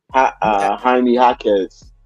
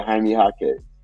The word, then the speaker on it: Jaime Jaquez: I sound old as hell when I try to pronounce these names. But anyway, Jaime Jaquez. That's how you say his shit. Yeah, Jaime Jaquez.